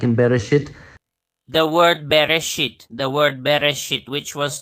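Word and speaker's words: בראשית: So I'm pronouncing it differently. It's Bereshit, but bet in Rosh, in the head.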